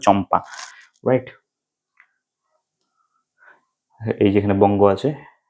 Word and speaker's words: চম্পা: সব জিনিস ক্যাম্পা হচ্ছে ক্যাম্পা না উচ্চারণটা হবে চম্পা রাইট এইযে এখানে বঙ্গ